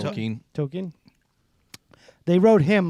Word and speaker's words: Tolkien: How do you pronounce it? Tolkien.